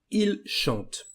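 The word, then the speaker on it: ils chantent: The pronunciation is je chante, tu chantes, il chante, nous chantons, vous chantez, il chante. Here you can notice that we don't pronounce for the last plural form the N nor the letter T.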